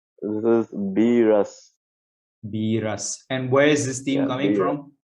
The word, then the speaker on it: Beerus: So we're gonna ask C137 how to pronounce this correctly. This is Beerus. Beerus.